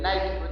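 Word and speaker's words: Νίκη: La palabra Nicolás viene de Nikao, y ahí viene del Nike. Nike porque lo pronunciamos en inglés, pero es Nike en griego. En griego es Nike, en inglés es el Nike.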